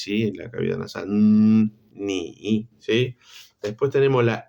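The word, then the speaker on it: 你: Ni. Es similar a la N del español, pero tiene más resonancia en la nariz, ¿sí? En la cavidad nasal. Ni, ¿sí?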